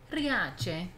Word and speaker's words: Riace: Riace.